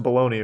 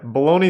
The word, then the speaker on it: Bologna: This is 100% pronounced baloney, right? It's not? What? Is it not? Because baloney is spelled like that, isn't it? Yeah, bologna sausage. It's pronounced Bologna.